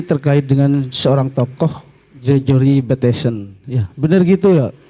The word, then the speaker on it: Bateson: Diskusi kita ini terkait dengan seorang tokoh, Gregory Bateson. Ya, benar gitu ya. Ejaannya ya. Bukan Mike Tyson, Bateson.